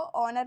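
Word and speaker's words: honour: और इसको ऑनर, इसको हॉनर नहीं पढ़ेंगे, हम इसको ऑनर पढ़ेंगे क्योंकि यहाँ पर भी एच जो है हमारा साइलेंट है।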